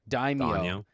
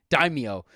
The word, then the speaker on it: daimyo: written down right here daimyo daimio like dime and then yo daimyo and it is in